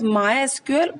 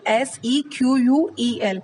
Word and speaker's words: MySQL: to tell you that this MySQL, it is pronounced as MySQL, or it can be pronounced as MySQL, SEQUEL. So sometimes you will find that it is pronounced as MySQL, or we can call it MySQL also.